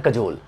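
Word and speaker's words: cajole: next word है कजोल, बड़ा simple है, बड़ा अच्छा वर्ड है कजोल, कजोल इसको सही प्रोनाउंस करते हैं, यही इसका प्रोनाउंसिएशन है, लेकिन मैंने याद करने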